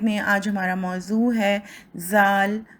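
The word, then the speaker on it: ذال: سیکھیں گے۔ سب سے پہلے ہم کہیں گے زال، زال، زے، زے، زواد، زواد، زوئیں، زوئیں۔ ان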